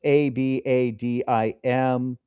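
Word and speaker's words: avadim: It's ab a d i m. Um, and I asked how it's supposed to be pronounced and it's abadim uh the stress will but it is singular evid.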